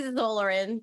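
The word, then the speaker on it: Xolarin: Can we just say the X is silent and call them Orlaren? We'll say Zolarin. That's fine. Like xylophone.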